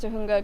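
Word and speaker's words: Tujunga: You pronounced Tahunga correctly, Sharknado Week. Not many pronounce the J as an H.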